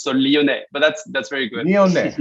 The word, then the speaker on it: Lyonnet: speak next is leonette did i pronounce that uh the last name correctly yes perfectly i mean except maybe for the last letter that you don't pronounce so leone but that's that's very